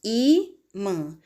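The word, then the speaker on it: ímã: Na palavra imã, nós temos imã. Sílaba mais forte é o I.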